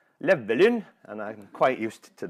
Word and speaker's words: Bryn Llewellyn: as you can see my name there is a Welsh name and in English I'm used to pronouncing it Bryn Llewelyn and Bryn is very easy to pronounce I'm sure when I lived in Norway I was known as Neverland and I'm quite used